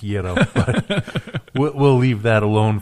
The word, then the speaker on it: gyro: I'm still trying to work on gyro, so... It's actually pronounced Yero, but we'll leave that alone for now.